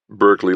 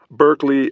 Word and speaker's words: Berkeley: Berkeley liked the music school. No, Berkeley. As in my daddy Burke, really wanted a son and had to make do with me. But it spelled like the school.